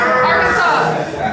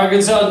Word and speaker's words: Arkansas: Arkansas. Ohio. Mississippi. Arkansas. I think if you put it heavy on the ass, they get upset.